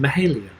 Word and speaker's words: Mahalia: No, didn't you say it's pronounced Mahalia?